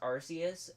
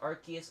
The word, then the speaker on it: Arceus: a very powerful thing both pronunciations are actually correct like it was it was originally pronounced arceus but then they changed it and we're like yeah you can pronounce it arceus or arceus because sure why not